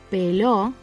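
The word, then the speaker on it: peló: Pelo, here the stress falls on the last syllable and it's topped off with a tilde.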